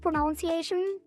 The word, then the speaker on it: pronunciation: Remember the other day when I told you guys that I figured out that actually it's pronunciation instead of pronunciation? Like without the O, pronunciation.